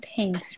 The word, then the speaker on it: TenKs: It's a tangle called, I guess it's pronounced TenKs, right? Like thank you, thanks.